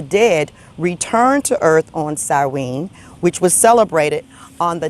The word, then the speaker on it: Samhain: Now, Samhain is spelled S-A-M-H-A-I-N, but it's pronounced Samhain.